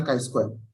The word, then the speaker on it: chi-square: Jadi untuk menentukan apakah ada asosiasi atau relationship terhadap dua variabel kategori, itu kita menggunakan chi-square. atau ini tulisannya C square, bacanya Chi square.